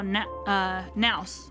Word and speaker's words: Nous: Even Skrullim's gears squeaked when he saw Nous, or Nos I think is how they pronounce it in this game.